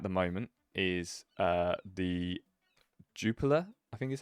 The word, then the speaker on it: Jupiler: moment is, uh, the Juper, I think is how you say it. Jup I've always called it Jipper, and it's not. It's Juper Pro League, the Belgian League started.